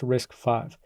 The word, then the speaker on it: RISC-V: V is not pronounced risk V it's pronounced risk 5 and that's because this is the fifth iteration of the Berkeley reduced instruction set computer or risk architecture and I think we